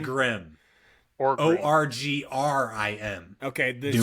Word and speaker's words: Orgrim: Olgin. Orgrim.